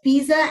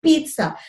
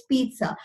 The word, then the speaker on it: pizza: people pronounce it as Pisa and that's one it's pizza like there's an imaginary T there ok it's pizza I like not only